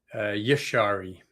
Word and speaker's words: Jashari: It was Jashari. How am I pronouncing that? Yashari is how it's pronounced.